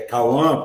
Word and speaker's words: Cauã: O Cauã, que é Cauã, pronúncia, ele tem uma relação muito... É igualzinho, tu falou só o finalzinho que força mais.